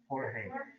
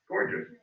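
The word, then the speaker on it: Gorges: How do you say it? Jorge. What? Gorgeous.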